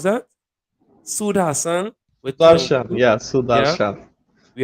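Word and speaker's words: Sudharsan: You had Sud Hassan. Is that how you pronounce that? Sud Hassan with Sudarshan, 22.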